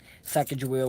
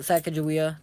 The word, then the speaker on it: Sacagawea: Everyone calls it Sacagawea. Um, I've learned in school that the correct way to say it is Sacagawea. And ever since then, like when people say Sacagawea, I've been mad. I'm always like, it's kind of said a different way.